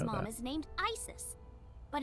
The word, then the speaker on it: Isis: not mom is named isis but in ancient egyptian it's pronounced closer to isa or asa hmm how do i